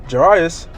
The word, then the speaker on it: Jairus: And behold, there came a man named Jairus. Pronounce that right?